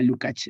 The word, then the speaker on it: Lukács: Georg Lukács, se pronuncia Lukács, es húngaro, aunque él describe la mayoría de su obra en alemán.